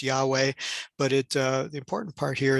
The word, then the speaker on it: Yahweh: Vav He, the Tetragrammaton, at least majority times thought that it's pronounced Yahweh, but the important part here is that it conveys the merciful and compassionate side of God.